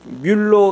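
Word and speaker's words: Müller: 같이 예전의 그 조지 밀러의 대해서 전에도 말씀 드렸었는데 조지 밀러 는 원래 이 뮬러 가 이게 바로 이게 독일식 발음 이거든요 밀너 2 독일 사람이에요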